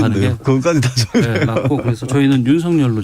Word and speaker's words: 윤석열: 확인을 했어요 10 사절로 발음하는 게 좋겠는지 아니면 윤석렬 로 발음하는 것이 않는 것인지 근데 윤석렬 전 총장 측에서 면서 별로 받아주세요 예 원한다고 해서 이름은 본인이 원하는 머리 하드웨어 권까지 특별하다고 그래서 저희는 유성 열로 좀 발음을 하고 있다는 점에서 인생 이야기 했습니다